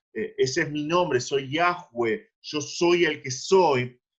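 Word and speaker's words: Yahweh: van a decir que la pronunciación más aproximada es viaje web y esto es lo que el señor dice acá ese es mi nombre soy yagüe yo soy el que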